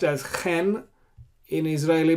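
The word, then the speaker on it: כֵן: And if there's no dot, you pronounce as chaf, chen. Now, the letter chet, that's how I pronounced chet, is pronounced as chen in Israeli pronunciation, but originally the chet was pronounced as chet.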